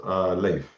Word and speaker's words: Leif: my case, it's pronounced Leif, like Leif. Layph. So Leif.